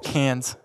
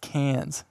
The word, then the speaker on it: Cairns: such a small difference cans Cairns every time I try and say that enough really well c-a-i-r-n-s like oh it's actually pronounced cans anyways in an Australian accent I wouldn't even dare